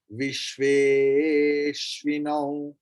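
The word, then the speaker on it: विश्वेऽश्विनौ: In your all book, you will say after Vishve, there is Avagraha. Es. Es means A. But we can't chant the pronunciation of A. Then how we will chant it? We will prolong the previous vowel.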